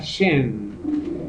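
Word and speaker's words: שם: de una raíz hebrea que es Shen, se pronuncia Shen.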